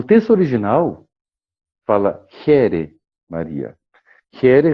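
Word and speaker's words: Χαῖρε: Here, repito, é a pronúncia do grego katarevousa, que é um grego antigo modernizado e que é utilizado normalmente nas igrejas, que se escreve Kaire, e alguns linguistas do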